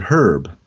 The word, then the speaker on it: herb: And they pronounce it herb, not herb. True, yes. The H is there.